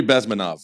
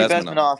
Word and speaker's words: Bezmenov: How to pronounce his last name? Yuri Bezmenov. Yuri Bezmenov.